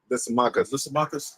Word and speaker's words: Lysimachus: Lysimachus.